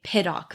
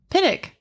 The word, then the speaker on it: Pittock: mansion shut up yeah is that how you say it pitic uh now i'm like thinking about it because that's how i've always mentioned heard it but it's spelled like pitoc i hear a lot of people i hear oh my god i can't say words i hear a lot of people say piddok mansion piddok okay let's